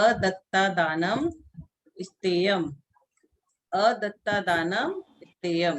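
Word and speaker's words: अदत्तादानं स्तेयम्: अदत्ता दानम स्तेयम। तो सभी लोग साथ में इसका प्रोनाउंसिएशन करेंगे कि ये आदानम स्तेयम ये क्या है?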